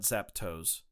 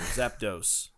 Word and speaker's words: Zapdos: on Tuesdays oh okay um it's zap do Mr Curtis not zapto zap toast like breakfast and toast not that either not that either Zapdos uh Professor excuse me